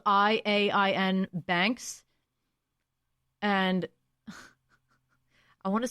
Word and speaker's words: Iain: It's spelled Iain Banks.